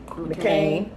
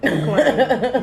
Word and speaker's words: McClain: Basically, I said his name wrong. McClain. What did I say? McCain. McClain. My bad.